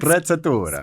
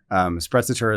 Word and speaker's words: sprezzatura: Is it Sprezzatura. Sprezzatura. Is that how you say it? You have to say it like this. So it's Italiano.